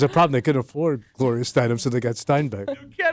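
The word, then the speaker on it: Gloria Steinem: Gloria Steinbeck. Do you know who she is? Gloria Steinum. She's nobody because it's Gloria Steinum. You idiot. You got the You got the name wrong.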